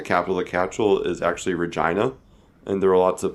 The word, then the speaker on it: Regina: yeah here it comes I originally we thought it was a Reginald it's not it's not we got corrected by a local we were like use shirts it's Regina all right what does